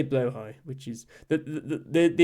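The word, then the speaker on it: Blåhaj: that uh I say blo high which is the the the important thing is the the J uh makes a i sound in Swedish uh not a j or a y or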